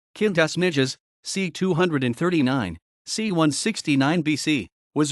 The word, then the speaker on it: Quintus Ennius: quintus Latin pronunciation kinas nides c239 C1 169 BC was a writer and